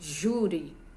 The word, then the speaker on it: júri: em I e II o júri é uma palavra paroxítona porque ela é a sílaba tônica dela é Ju terminado aí são acentuadas